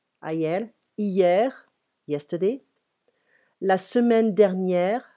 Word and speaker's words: hier: Hier, we don't pronounce the H. Hier, ayer.